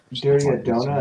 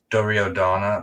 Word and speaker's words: Duryodhana: Duryodhana, is that how you say that? I say Duryodhana. Like, so this it's called the Duryodhana Purana. And just remember, Duryodhana rhymes with piranha, and piranha's like fish in it.